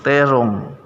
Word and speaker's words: tedong: E dan o maka k sebenarnya dalam penyebutan Tedong itu bukan Tedong terong ya karena ada kaidah yang mengapitnya ada kaidah yang mengaturnya dari Tedong penulisan kemudian dibacanya menjadi terong ya donggo menjadi naro naronggo